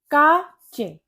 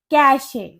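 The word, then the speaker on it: cache: Next है हमारे काचे। काचे नहीं। इसकी करेक्ट प्रोनंसिएशन होती है कैशे।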